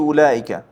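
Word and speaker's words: أولئك: যেমন ওটাতে হবে কি উলাইকা ওটা বাইত হ্যা এই ওয়াওটা কাজে আসবে না উচ্চারণ হবে না উলা আলিফ মাদ হামজার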